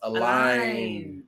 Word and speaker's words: Allyn: Name is pronounced Allyn. Like align your car.